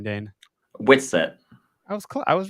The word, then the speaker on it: Whitsett: Whitsett.